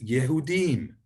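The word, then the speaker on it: יהודים: Then the word for the Jews, a word that funnily enough doesn't crop up very much in the Old Testament, is Yehudim, Yehudim.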